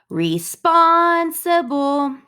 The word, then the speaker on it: responsible: I hope that you are practicing by saying responsible, because spawn, that is our long syllable, that is our emphasized syllable.